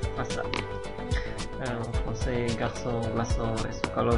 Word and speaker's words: façade: Jadi walaupun A, I terserah, dia akan selalu dibaca S. Façade.